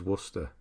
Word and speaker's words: Worcester: The worst is Worcester, yeah, or Worcestershire.